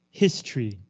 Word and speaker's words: history: Again, this word is pronounced history. Two syllables, 两个音节, history.